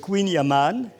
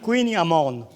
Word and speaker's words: kouign-amann: prononce comment c'est simple sur la côte ils disent Queen Yaman le cœur même de la Bretagne on dit Queen amorne et ça veut dire